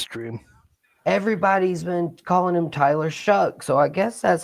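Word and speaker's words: Shough: Where is the C and the K in that name to make it shuck like corn?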